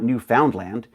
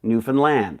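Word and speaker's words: Newfoundland: to say it is it's not New Foundland it's got to say it like this isn't it Grand Newan land that's what I was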